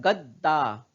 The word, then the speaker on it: दद्दा: पूरा दा कहा दावा लेकिन यहां पर द आधा हो जाता है दद्दा हम लोग गद्दार नहीं पड़ते हंै यदि गद्दार पूरा होता तो हम लोग यहां पढ़ते गद्दा लेकिन अब क्योंकि हम कैसे पढ़ रहे हैं दद्दा दद्दा इसका मतलब यह जो द है यह पूरा नहीं है और क्यों पूरा नहीं